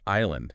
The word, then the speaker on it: island: Think about island. Island. Yeah, that just feels random. Totally random. It got that silent s basically because the related French word is sle had one. Oh, okay. Again, the s wasn't pronounced in the English word, but it's sort of got tacked on probably because of that French spelling influence.